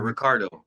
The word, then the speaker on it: Ricardo: Um what what letter are you seeing? Are you saying R or D? R. Ricardo.